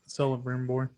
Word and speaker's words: Celebrimbor: Talion, who is fused with what is it, Celebrimbor? I always forget how to say his name. You're on it, Celebrimbor.